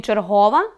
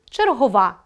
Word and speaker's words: черговá: А в слові «чергóва» неправильно поставлено наголос. Правильно — черговá.